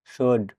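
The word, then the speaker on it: should: SOULD, শুড মানে উচিত, এখানে এল লেটারটি সাইলেন্ট থাকবে।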